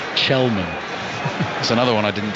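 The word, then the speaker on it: Källman: There's going to be another little pronunciation lesson coming as well, because number 19, Benjamin Kelman, is actually pronounced Chelman.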